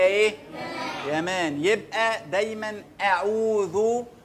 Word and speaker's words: اعوذ: يبقى دايما اعوذ، والذال بتاعت اعوذ بطلع فيها لساني، ثلاث حروف بطلع فيهم لساني، الذال والثاء والظاء.